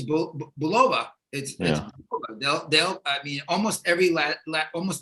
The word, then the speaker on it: Bulova: wrong uh but certainly from the American point of view and the New York point of view because we're a New York based company um it's Bulova I mean and that's that's that's that's that's how we say it in the office it's Bulova all right well that's